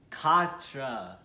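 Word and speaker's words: quatre: that's right four and how do we say four in french it's katra now let's repeat that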